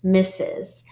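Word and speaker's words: Mrs.: we are going to learn is mrs let's spell it m-r-s misses you use the title misses for someone who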